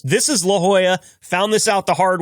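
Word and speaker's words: La Jolla: There's a city in California called LAA. Uh but that's definitely not how it's pronounced. This is La Joya.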